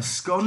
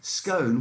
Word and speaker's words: scone: A scone as in gone, quite right. As opposed to a scone, which is a tone.